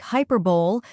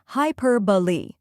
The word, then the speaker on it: hyperbole: the correct pronunciation is hyperboy first hi sounds like high next per is stressed and sounds like per in perfect then B is a